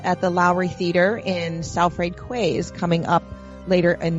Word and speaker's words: Salford: And he is also discussing his book at a special event at the Lowry Theater in Salford Quays coming up later in this month of October.